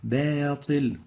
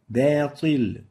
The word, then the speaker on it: باطل: The third common mistake of the ba is velarizing it, making tafkhim when followed by a velarized letter. الباطل باطل. So باطل instead of باطل. So the right way of pronouncing it is باطل, not باطل. So make sure to attenuate the ba, give it tarqiq, not tafkhim.